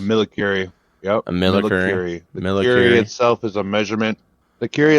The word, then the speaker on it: millicurie: The shipment, which contained .276 millicurie, is that how it's pronounced? It's a millicurie.